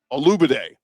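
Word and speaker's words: Olugbode: Uh, was watching some film on a kid named Donovan Olibade, Olubiday, I guess, is how you say it. O L U G B O D E.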